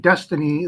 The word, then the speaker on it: DXYZ: can see in dxyz Destiny they say it's pronounced Destiny dxyz and uh it's